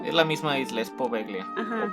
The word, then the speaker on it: Poveglia: ¿Cómo dijimos que se pronuncia? Poveglia.